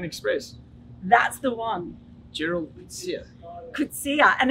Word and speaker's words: Coetzee: Yeah, Coetzee.